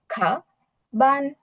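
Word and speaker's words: 课本: তাহলে আমাদের কি উচ্চারণ হবে এখানে? খা বান, খা বান। ডাবল টোন হবে কিন্তু, খা বান, বান, খা বান, এরকম উচ্চারণ হবে।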